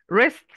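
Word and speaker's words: wrist: كانوا بيلبسوه الانش ايجيب ريست وطبعا الدبليو قبل الار مش بتتنطق وده اللي هو الجزء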